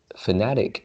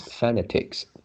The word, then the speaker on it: fanatic: this is pronounced as fanatic and you pronounce fanatics so that stress is at the second syllable okay genetic nothing stands